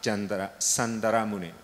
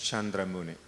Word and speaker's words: Chandra Muni: So in the Burmese Pali, the way in Burmese we pronounce Sandara Muni, but let me pronounce in the somewhat international sense, Chandra Muni, in Sanskrit sense.